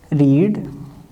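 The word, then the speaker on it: read: इसको हम पढ़ते हैं रेड, इसकी ये प्रोनाउंसिएशन है रेड।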